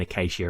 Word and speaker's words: Acacia: And for the guys who've been around, you'll probably know that um I'm actually saying Acacia right now cuz I said it wrong on uh one of my previous videos.